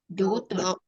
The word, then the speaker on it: daughter: apa tadi enggak GH-nya GH-nya nggak nggak di usah dibaca. Ya sama kayak gini, daughter. Ya, daughter. daughter. Iya, Daughter. ya gitu benar ya. Jadi GH-nya nggak usah Daughter. dibaca. Kalau versi British malah cara bacanya gini ya.